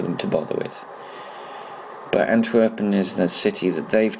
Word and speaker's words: Antwerpen: They're calling Antwerpen, which is probably how it's pronounced in Belgium, but in English it's called Antwerp. I thought they would go